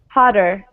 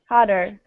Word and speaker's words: hotter: how we pronounce this hotter hotter it's almost like it's a d right and if if you're